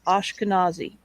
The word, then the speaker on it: Ashkenazi: just doesn't matter okay according to one of the pronunciation guides on my web browser it's ashkenazi and that's that's the terminology